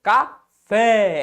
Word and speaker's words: café: Qual que é a sílaba tônica? A sílaba pronunciada com mais força. Café. Esse fé aqui, ó.